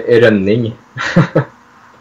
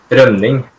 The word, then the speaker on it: Rønning: So it's actually Rønning. Wait, say it. Okay, say the whole thing. Rønning. Rønning? Yeah, I guess. I'll have to Google translate it. Rønning.